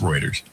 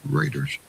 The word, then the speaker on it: Reuters: Pronounced Reuters. Reuters.